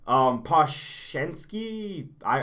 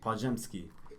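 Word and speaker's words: Podziemski: Poshensky. Podzemski. How do you pronounce it? Podzemski. Podzemski. So you do the Podge, and then go into an M. It's an M. Podzemski.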